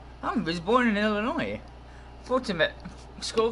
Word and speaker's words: Foltynewicz: Foltynewicz.